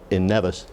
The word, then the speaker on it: Nevis: And we've had guest speakers from Nevis, from at one time we sang Happy Birthday together, everyone in New York and everyone in St. Kitts, because of Alexander's home in Nevis. Is that pronounced right?